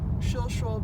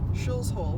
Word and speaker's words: Shilshole: We're here going by the Shilshole Bay Marina, not to be accidentally pronounced Shills Hole, which I have heard people who are not from this area say.